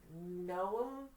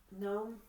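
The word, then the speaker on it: Noem: Gnome. Gnome. N O E M is how it's spelled. If I mispronounced your name, forgive me. I think it's gnome because if you put a G in front of it, it's a gnome.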